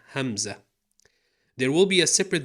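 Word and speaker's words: همزة: No, not the famous male name Hamza, Hamza.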